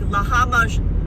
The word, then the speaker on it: lahmacun: Pronounce lahmacun.